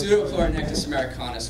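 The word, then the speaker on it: Pseudopleuronectes americanus: You want to pronounce that scientific name? No. So it's Pseudochlorinectis americanus, for those who are curious.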